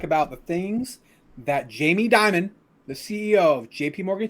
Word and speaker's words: Dimon: let's get to it is his last name pronounced Diamond because that's awesome yeah it is actually he was born to